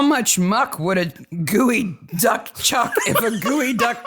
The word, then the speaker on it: geoduck: It's spelled ge o duck. It's not geod duck. It's gooey duck. It's gooey duck.